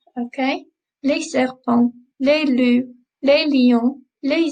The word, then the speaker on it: serpents: We don't pronounce the S's on the end, okay? Les serpents, les loups, les lions, les zèbres, les girafes.